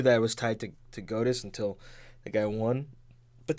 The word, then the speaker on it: Godus: working on another game called Godus or Goddess. I don't know how to pronounce it.